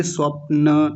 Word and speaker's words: स्वप्न: सबसे पहला है स्वप्न। स्वप्न नहीं कहेंगे। स्वप्न न को पूरा रखेंगे।